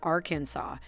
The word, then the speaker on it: Arkansas: Arkansas, narrator's note, pronounced Arkansas, is the only U.S.